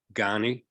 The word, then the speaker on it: Ghani: Afghanistan who at that time I think was ghani is that how you pronounce it yes yes uh well um I